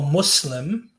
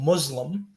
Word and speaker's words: Muslim: so like for instance when you say um you know i'm a muslim you're supposed to pronounce it with like an s as opposed to like a zed because that changes the meaning completely sorry if you can't